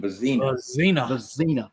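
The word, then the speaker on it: Vizzina: Vizina.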